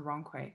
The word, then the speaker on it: Rongkui: of all it's pronounced wrong que it's like you went the wrong way but you put a k in it wrong way so i'm